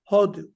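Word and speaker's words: הודו: Now, the word India is what? Hodu. The pronunciation is on the first syllable. Hodu.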